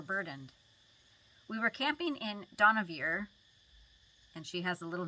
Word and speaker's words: Dohnavur: We were camping in Dohnavur," and she has a little note about how to say it. Rhyme do with no. Do na, and then vur with poor. Dohnavur. Is the same word as